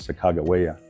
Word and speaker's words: Sacajawea: So here we are in the lobby of the Sak Jia Hotel and of course the right pronunciation is Sakagawea for some people but this is just a great lobby.